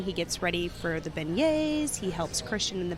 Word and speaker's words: beignet: Beignets. It took me a second. And I keep thinking about the hat you got in there that phonetically. Beignet.